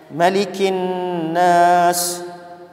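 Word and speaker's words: مَلِكِ النَّاسِ: Qul a'udzu birabbin nas, malikin nas. Yang benar bacanya apa? Malikin nas, bukan malikin nas, bukan. Bukan malikin nas. Kalau malikin nas itu adanya di surah Al-Fatihah. Al-Fatihah itu ma-nya panjang.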